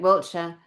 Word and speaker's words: Wiltshire: Wiltshire.